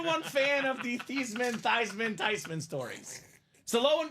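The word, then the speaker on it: Theismann: Robbie and they said let's change your name from thesan to thyman so they can campaign for thyman for the Heisman how awesome I turned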